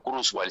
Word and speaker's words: Kurzweil: parte de lo que Ray Kurzweil o Kurzweil, según como lo quieran pronunciar en alemán o en inglés, él manifiesta ya desde